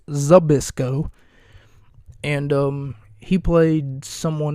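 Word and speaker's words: Zbyszko: and I played Larry Sisco sorry I pronounced his name wrong it's abisco and um he played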